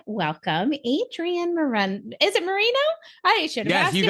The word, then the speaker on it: Moreno: Is it Moreno? I should have asked you how to pronounce it all.